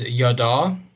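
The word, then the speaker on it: ידע: that that carries okay we have the word is yada is your pronunciation and if you can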